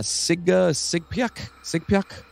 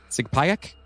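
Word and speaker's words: Sugpiaq: woman named sally ash sally is a siga sigpiak sigpayak exactly uh that sounds good sure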